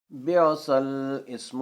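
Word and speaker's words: بِئْسَ الِاسْمُ: کلمات کا صحیح تلفظ: بیعصل اسم الفسوق، الحجرات 11:49۔ اس میں بیعصا کے بعد والا الف اور اسم کا الف دونوں حمزہ وصلی ہیں، اس لیے وہ دونوں نہیں پڑھے جائیں گے، یعنی بیعصل، بیعصل اسم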